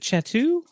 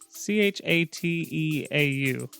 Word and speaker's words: chateau: So, since we're since we're talking about the levels, um, so that is it is it chatu? How do you say c h a t e au? Yeah. Chateau. Uh, French.